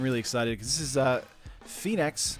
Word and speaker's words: Phenax: I'm really excited because this is Phenax. I think it's Phenax is how you would pronounce it.